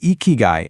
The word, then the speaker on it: Ikigai: And that word is icky guy. It's pronounced eeky guy.